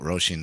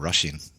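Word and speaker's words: Róisín: i'm always amazed at how they pronounce roshi and we call it roshin down here but then up north they call it sort of russian russian yeah i've heard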